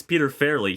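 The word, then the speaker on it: Peter Farrelly: You said I think you butchered his name at the beginning. It's Peter Fairley.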